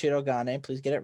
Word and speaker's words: Shirogane: Yes, and it's pronounced Shirogane.